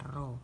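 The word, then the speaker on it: ρ: jenis Hai atau roh disimbolkan dengan ruang dibacanya roh nah hambatan jenis ini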